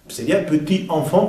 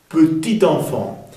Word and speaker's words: petit enfant: chante sonido abierto chantit petit enfant per la liaison la connexion pron la t petit enfant qu'il chantait petit enfant